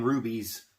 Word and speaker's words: Hruby: I'm going to give you all the information now, and I will post a picture of Brian Hruby's Facebook page, profile picture page, whatever you want